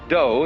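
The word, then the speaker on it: 道: Do is the way the Japanese pronounce Tao.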